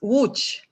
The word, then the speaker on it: Łódź: how to pronounce because it is written Lodz. The pronunciation is completely different. What is the pronunciation of your city? It's Łódź. Yeah, Łódź. Yeah, it doesn't sound like, like spelling.